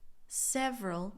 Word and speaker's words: several: So therefore, it has been done several times. And listen to my pronunciation of several. It's almost like it just has two syllables, right?